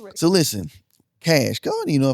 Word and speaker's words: Kashh: Cash.